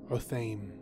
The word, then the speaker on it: Otheym: one of the Fadaikin that fights with Paul Muad'Dib is pronounced Otheym by Frank Herbert. Otheym. But this is an Arabic name pronounced Otheym.